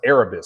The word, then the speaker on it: Erebus: doing dude his name is actually uh it's pronounced Erebus so it's e-r-e-b-u-s which um means Lord of